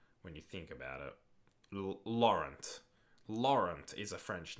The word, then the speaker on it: Laurent: We don't pronounce the T in Lauren. Yeah, I know. I was just doing it so people knew what I was talking about. Lauren Koscielny.